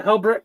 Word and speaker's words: Helbrecht: How do you pronounce that name? Helbrecht? Yeah, Helbrecht.